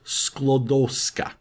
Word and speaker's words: Sklodowska: It's a little tricky for me to pronounce, so I had to write it down. It is Sklodowska. Sklodowska.